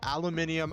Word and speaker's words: aluminium: i actually saw a video that was outlining the aluminium aluminum thing right and it has apparently in official releases it has been pronounced both ways i think it i